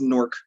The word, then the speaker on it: Newark: in Newark New Jersey pronounced Newark never knew Ark The Brick City uh